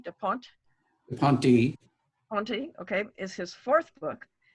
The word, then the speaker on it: Ponte: Do you pronounce the last E? Da Ponte? Da Ponte. Ponte, okay, is his fourth book.